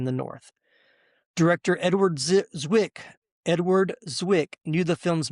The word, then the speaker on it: Zwick: And last little tidbit here for pre-production, Edward Zik, I keep saying it wrong, Edward Zwick initially hesitated about how the African-American cast would